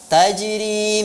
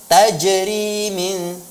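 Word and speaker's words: تجري: Latifah Hanum saat membaca Tajiri Mi tahtihal Anhar huruf Jim yang ada di tengah-tengah kata Tajiri itu itu termasuk kedalam kelompok Qolqolah Sugro jadi tidak perlu membacanya dengan tajerimin juga dibaca tajir ini tahtihal Anhar jadi saya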